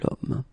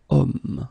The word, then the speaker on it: homme: if you look carefully, you've got H here, okay? And it's not a vowel at all. But then in French, we don't pronounce it.